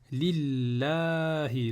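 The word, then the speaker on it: لِلَّهِ: Pour le nom d'Allah, il y a toujours une prolongation. Donc on va dire Lillahi.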